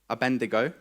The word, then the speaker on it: Abednego: We've got Daniel and his three mates, Shadrach, Meshach, and Abednego, who have basically gone, did I say it wrong? Abednego.